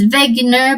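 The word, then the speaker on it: Wegener: be attributed to Alfred vager so I'm pronouncing his name as vager because he's German and he's a meteorologist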